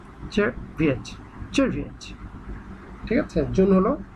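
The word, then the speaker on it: Czerwiec: June, জুনের এখানে বানানটা আগে প্রথমে দেখুন, CZERVIEC, চেরভিয়েচ, চেরভিয়েচ, চেরভিয়েচ।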